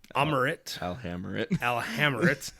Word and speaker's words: Alhamrit: the Sphinx's mind, rendering Alhamrit. I gotta remember that. I'll hammer it down. I was like, it's literally how it's spelled.